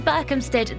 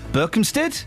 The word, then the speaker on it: Berkhamsted: But Berkhamsted? Yes. Hampstead. Well, yeah, exactly. Berkhamsted. No, Berkhamsted. It's not got no P in it.